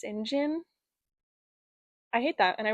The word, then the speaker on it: St. John: But yeah, this book was great and I actually can't believe that St. John is pronounced Sinjin.